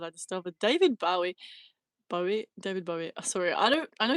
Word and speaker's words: Bowie: David Bowie.